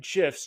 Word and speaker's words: GIF: to make your emails pop by adding animated gifs in MailChimp I'm from Gmail and in today's video I'm going to cover exactly how to insert animated gifs directly from Jiffy using MailChimp tools let's get